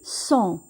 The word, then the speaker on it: sont: Ils sont. Ils sont. Nous avons ici le S avec la nasale on et on prononce son. Le T ne se prononce pas.